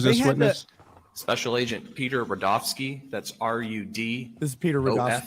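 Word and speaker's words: Rudofsky: witness special agent Peter rodofsky that's r-u-d this is Peter ski and it's pronounced Rudolph and then ski but Joe especially to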